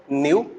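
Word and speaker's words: ν: एंड इसको हम denote करेंगे किससे, दिस इज प्रोनाउंसिएटेड न्यू.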